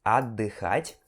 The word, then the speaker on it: отдыхать: Ele tem um T aqui no meio, letra T, só que esse T é mudo, então não tem som. Você vai pular esse T, ok? E você vai pronunciar отдыхать, ok?